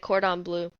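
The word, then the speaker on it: Cordon Bleu: at oh gosh I'm going to butcher like cordon blue there you go you I think you said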